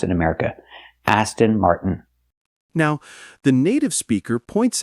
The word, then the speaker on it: Aston Martin: We have to say Aston Martin with a T. Or we have another way to do it. We can take the T and make it a stop T.